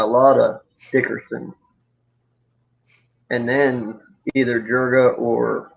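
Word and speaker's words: Juriga: future you know a lot of people say jurga's got a pretty good future some people even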